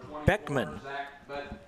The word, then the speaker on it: Beckmann: Boley will bring up the third baseman zach beckmann it spelled the double ekm a double n but it's pronounced Beckman left handed hitter hitting 244 two